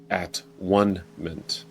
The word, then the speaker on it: atonement: this word atonement but the pronunciation of it can be emphasized differently in order to arrive at a different realization and in this case it was at one Min same spelling a t